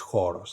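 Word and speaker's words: χώρος: omicron comes second, but they are both pronounced exactly the same O. So this is a historical difference that has been lost now. We keep the writing of these different O's, but they are pronounced exactly the same O. So it's choros.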